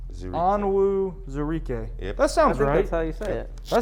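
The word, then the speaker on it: Onwuzurike: Pronounce. Zarike. Onwu Zarike.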